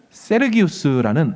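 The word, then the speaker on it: Sergius: 임입니다 그리고 바울이 라스트 임죠 이스트 네임은 우리 발음은 기라고 돼 있지만 원래는 세르기우스 라틴식 이름이고요 바울은 이것도 울루스는 성 썰이 되는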